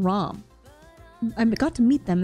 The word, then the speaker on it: Ram: meet rim and RAM for the first time ROM they pronouncing her her name ROM I got to meet them and they're great